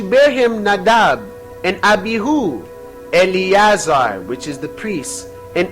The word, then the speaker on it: Eleazar: Eleazar is Alaizar.